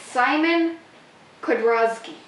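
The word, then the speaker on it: Simon Kudranski: No, the Z is silent. It's Simon Kudrowski.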